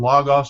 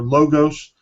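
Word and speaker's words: Logos: is actually a product called log-off's now it comes from log-off's or low dose if you want to mispronounce it like they do and what the the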